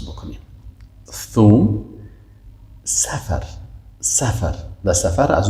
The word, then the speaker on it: ثوم: مثلا ما و شما میگیم ثوم، ثا. ببینید چه قسم. ثا، ذل. اینی را شکل تلفظ درست شه یاد بگیریم. ثوم، ثوم، ثوم.